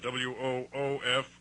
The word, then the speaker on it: Woof: That's spelled W-O-O-F, Woof, as in dog bark.